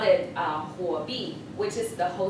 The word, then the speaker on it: Huobi: And then after I joined Huobi, I went to like really, really, really, really far.